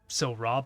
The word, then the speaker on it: Silra: Pronounced Silra, but spelled like that.